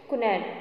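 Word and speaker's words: quinine: यहाँ पे देख के एक स्पेलिंग आप देख रहे हो कि QUINNE, इसको बोलते हैं कुनैन।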